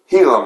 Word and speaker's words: Gila: Gila Monster, but the G is silent.